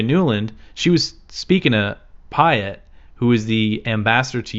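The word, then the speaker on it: Pyatt: energy resources Jeffrey payatt people have uh argued about how you pronounce his name Pat Pat Pat I say Patt I think but anyway if you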